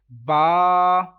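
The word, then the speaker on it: ب: read this letter like b b is wrong totally wrong that is not arabic accent if you want to read this letter in arabic accent then you will have to pronounce it ba you will have to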